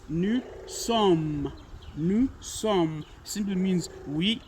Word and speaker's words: nous sommes: This one is nous sommes. It is not nous sommes. No, that's not the correct pronunciation. It is nous sommes.